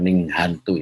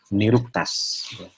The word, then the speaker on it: nirukta: sudah bikin kamus ini bacanya bukan Ning hantu ya Tapi bacanya nirukta bacanya ini kumpulan ya